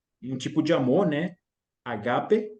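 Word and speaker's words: ἀγάπη: Agape, é a pronúncia certa, e o outro usou a palavra grega que descreve a ideia de amizade, amor de amigo, né?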